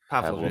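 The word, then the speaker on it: Pavlović: Because if it's Pavlic, is that how you say his name? Pavlovic. Then, you're not going to want 2 new people on the right side.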